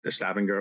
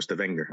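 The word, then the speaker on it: Stavanger: Norway was which was stavenger or stenger I guess depending on how you want to pronounce it and then the president's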